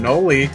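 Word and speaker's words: Knoli: And I'm Noli, the K is silent.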